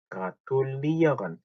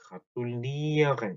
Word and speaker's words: gratulieren: gratulieren 발음이 조금 어렵죠. gratulieren. 자, 이렇게 이어간 하고 끝나는 것들은 뒤에 강세가 하죠. gratulieren 이렇게.